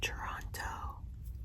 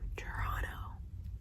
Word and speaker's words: Toronto: I was calling it Toronto. Toronto. You don't pronounce the second T if you live here. It's Toronto.